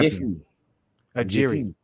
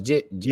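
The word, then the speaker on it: Jiří: And then he got knocked out by Jiffy. Jiri. No, it's Jiri. Oh yeah, Jiri. My bad. I said Jiffy. Jiri. Yeah, Jiri.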